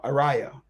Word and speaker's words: Ariyah: Oh, Araya. Okay. Like a Ray. Araya.